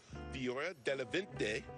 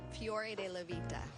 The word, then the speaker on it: Fiore Della Vita: And Tracy, make sure I say it right, because I know right now Michael Petri is in the booth saying it correctly. It is Fiore Della Vita.